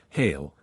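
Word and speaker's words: hele: all this within itself this word is often spelled as it is pronounced hail but it is properly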